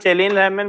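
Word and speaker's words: Källén: One of them, it's called Kellen-Lehman, but actually it's spelled as Kallen.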